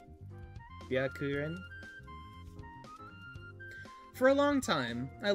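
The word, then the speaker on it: Byakuren: going to turn into me learning how to pronounce tooho names dude ka okay kn ka Isn't this just Bakarin? Byakurin.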